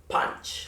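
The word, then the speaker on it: पाँच: Punch. Like punch in the face.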